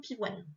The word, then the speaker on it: pivoine: c'est surtout que là, le O-I-N, il fait pas ouin, il fait, encore une fois, wa-n-e. Parce qu'il est coupé au milieu, enfin le O-I-N est entre deux syllabes.